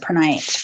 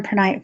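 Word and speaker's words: prehnite: it says per night I'm gonna pronounce it per night p-r-e-h-n-i-t-e tonight okay so number 20 nine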